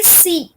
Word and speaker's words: Psi: उसे बोलेंगे PSI, सी, ये ग्रीक टर्म है PSI, ठीक है। ये इसका प्रोनाउंसिएशन है, और इसका प्रोनाउंसिएशन क्या है? ये इसका स्पेलिंग है, इसका प्रोनाउंसिएशन सी है, ठीक है।